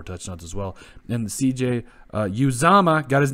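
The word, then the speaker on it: Uzomah: And CJ Uzama, got his name right.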